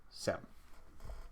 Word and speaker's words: SIEM: Just say SIEM. It's much easier. Just one syllable, SIEM. Okay, so SIEM is essentially a method of unifying audit logs.